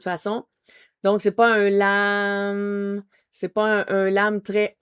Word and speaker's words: lam: L A M lam, c'est un A qui va un peu se transformer. Donc on commence avec le L devient un peu un lume sur de l'hume en refermant la bouche.